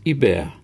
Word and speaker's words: Hubert: spontaneously blurted out Hubert which he pronounced in the French fashion as a bear she really didn't know